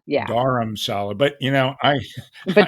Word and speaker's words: Dharamsala: daram so I think most people they say Dharma because that's what right the dog the dog yeah so but it's daram Salah yeah daram Salah but you know I but don't worry about